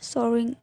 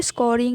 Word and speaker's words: scouring: इस पिक्चर में देखिए यहाँ पर स्पेलिंग एरर है, सोरिंग, ठीक है। सोर्सिंग कोई वर्ड नहीं होता है, स्कोरिंग ही होता है सही वर्ड गाइस, SCOURING।